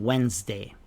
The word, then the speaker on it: Wednesday: A frightening psycho caught a flight to the island on Wednesday. GH in frightening. Psycho. The P is silent. The GH in caught. The gh in flight. The S in island. And the D in Wednesday.